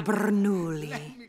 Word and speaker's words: Bernoulli: Francesco Bernoulli. No wonder there's a crowd. Wait, why do you know his name? I don't say it like that. It's three syllables, not ten.